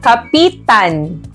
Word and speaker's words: kapitan: kahulugan at ang pangungusap ito ay nasa diing mabilis tama ito ay ang Kapitan dahil ang Kapitan ay